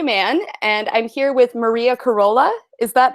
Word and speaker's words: Maria Carola: I'm Sonia Mann, and I'm here with Maria Carola. Is that how you pronounce it?